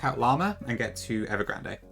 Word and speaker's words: Ever Grande: Ever Grand. Um so, we'll do that first. They say grand. Okay. Then, in that case, I am pronouncing it incorrectly, so I should probably train myself to not do that.